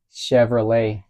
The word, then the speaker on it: Chevrolet: Google Chevrolet no Chevrolet porque termina con t no Chevrolet Cómo Chevrolet como si no hubiera t Chevrolet Chevrolet francés